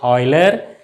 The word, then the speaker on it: Euler: It is pronounced as Euler.